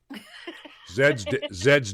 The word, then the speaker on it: zed: Zed's dead, baby. Instead of XYZ, we say Zed.